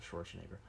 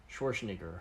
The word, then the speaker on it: Schwarzenegger: Because of Schwarzenegger. No. Why do you pronounce his name like that? Schwarzenegger. It's not Schwarzenegger. It's Schwarzenegger. Okay, it's not Schwarzenegger.